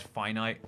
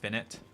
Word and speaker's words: finite: I hate the word finite doesn't it doesn't it look like it should be pronounced finnet like infinite and then finite but